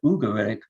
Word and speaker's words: Ugarit: up my mind the the natives usually must have said ugar but in English we tend to put an initial why there uh it's it's more more comfortable with our with our pronunciation habits I think but be